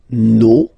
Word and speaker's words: nos: No, you don't pronounce the final S. Vos, you don't pronounce it. Leur. Okay, so if we say that one more time, it's me, te, se, and then nos, vos, leur.